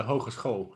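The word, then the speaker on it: Hogeschool: students from um uh university in utrecht um hogan school how do you pronounce it yocum in in that it's called the hochus hall it's a university lifestyle well um if the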